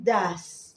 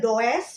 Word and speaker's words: does: Caranya adalah mengenakan do dan does. Ini bacanya bukan does, tulisnya does, bacanya does. Suara A does.